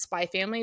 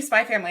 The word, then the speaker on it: Spy x Family: people's names, but for Spy X Family, it's Spy Family. The X isn't pronounced at all. That's how I do Spy Family.